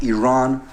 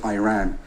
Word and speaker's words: Iran: the Iranian people but you're pronouncing our country's name wrong our country is named Iran not Iran please once and for